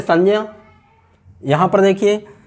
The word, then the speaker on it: संज्ञा: समाज में सुनते हैं, अधिकतर लोग इसको, इस शब्द को संज्ञा बोलते हैं, संज्ञा बोलते हैं। ये मुख सुख के कारण हमारे प्रचलन में आ गया है और हम